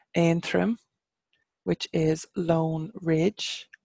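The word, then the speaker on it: Aontroim: have Antrim obviously is the English county name and trim which is lone Ridge and trim but in English we call it Antrim here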